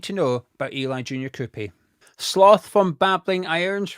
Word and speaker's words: Kroupi: all you need to know about Eli junor koopy sloth from bling iron right Eli junor am I even pronouncing it right is how you pronounce your name is it yeah it's right then let's start with